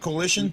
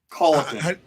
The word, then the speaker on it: Colleton: Coalition? No, that's way off. Oh. Colleton.